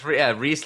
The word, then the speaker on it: Ries: pronouncing that right yeah it's rhys like the candy that's exactly right I